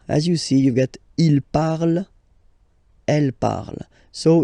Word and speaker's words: parle: So even if you've got this ENT, well, don't hate me, but you won't pronounce these letters. Okay, you have to write them for the plural form, but you don't pronounce them.